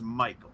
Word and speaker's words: Michael: I believe it's Michael. Spelled like Michael. Could be Michelle, but it's Michael.